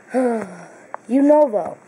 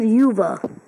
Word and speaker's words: Unova: Unova. For some reason, I kept on calling it Yuva.